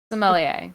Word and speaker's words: sommelier: some some so he how do you pronounce it sommelier but he got like a little bit of a french in between the m and the e um yeah he comes